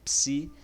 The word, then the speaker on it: psi: você tem um samba pronúncia aqui é um som de ps né hein por exemplo psiquiatria um exemplo de onde se utiliza a palavra a letra psi é na palavra é se